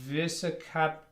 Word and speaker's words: Visakhapatnam: And I'm going to try to pronounce this. I'm going to butcher it, I'm sure. Andhra Pradesh Visakhapatnam. Visakhapatnam.